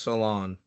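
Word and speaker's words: Salaün: I know the last name's pronounced Salon.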